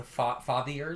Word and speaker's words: Fathier: The Fathiers? It's like father, but with like an I-E-R.